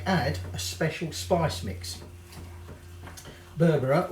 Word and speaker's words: berbere: a special spice mix berbera or it might be pronounced barbara i think it depends where you are now this is a